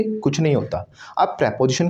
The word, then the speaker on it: preposition: आए, that is called pre पोजिशन, right. Pre पोजिशन, right? Yes और नो? Yes, sir. यस और नो? Yes, sir. नो, इसको प्री पोजिशन नहीं बोलना, इसको बोला जाता है प्रेपोजिशन.